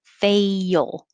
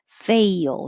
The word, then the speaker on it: fail: bourbon i put this on there bourbon 45 45 is tricky because the word fail is um almost two syllables because you're going very high for faye and then sliding down and making an l so it's almost fail